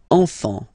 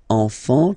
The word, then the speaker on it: enfants: Don't pronounce the T, you don't pronounce the S.